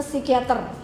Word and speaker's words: psikiater: Aku mau ke psikiater. Tulisannya psikiater, tapi kita bacanya enggak usah P-nya enggak usah dibaca.